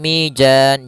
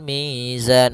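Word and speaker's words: ميزان: Hati-hati jangan sampai mijan jangan dibaca dengan jim jangan pula dibaca dengan dalan dengan dzal tapi di sini huruf zai harus jelas zanya za azza. Maka waadal mizan.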